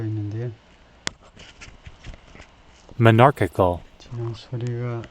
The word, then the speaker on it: monarchical: monarchical, 지금 소리가, 예. monarchical, monarchical, 네, monarchical. 두 번째 실레블에 액센트가 있죠.